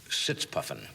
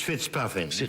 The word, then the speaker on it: Fitzpuffin: right British agent Leslie sits puffing actually it's it's fitzpuffin I'm sorry it's mispronounced it was with the when